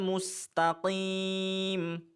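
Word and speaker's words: مستقيم: Ihdinas-sirathal mustaqim.'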